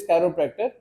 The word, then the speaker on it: chiropractor: बहुत से लोग वाकिफ नहीं, इवन के लोग इसको सही प्रोनाउंस भी नहीं करते। द वर्ड इज कैरोप्रैक्टर, और जो इलाज है उसको कहते हैं कैरोप्रैक्टिक थेरेपी, ठीक है।